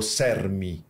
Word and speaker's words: CERM: Que a gente pronuncia deste jeito, não? Que é o CERM. CERM. C-E-R-M. Isso. Depois, estamos agora também querendo ter uma presença no Instagram e também em diferentes redes sociais, sim? Mas o modo, assim, mais direito de poder acessar as informações é justamente através deste nosso nome. Mas é cerm. Isso.